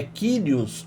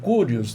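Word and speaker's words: κύριος: Há um só senhor a palavra para senhor aqui na língua grega é quíos ou curios depende como se queira pronunciar um título que só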